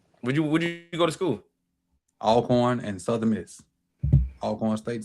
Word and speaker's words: Alcorn: Because you're saying it wrong. Cawthorn. Oh, Alcorn, not Elkhorn.